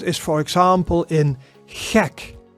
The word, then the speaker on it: gek: And the G sound is, for example, in gek, gek. And gek means mad, crazy. So it's the same guttural sound as the CH sound, but it's never pronounced as the English G, right?